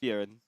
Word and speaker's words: Frieren: Frieren. Frieren. Okay. It's like fear run.